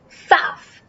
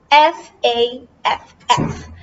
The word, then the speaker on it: faff: This is how you pronounce it, FAFF, FAFF.